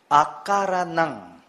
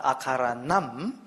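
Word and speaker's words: akaraṇaṃ: Akaranang. Not akaranam, but akaranang.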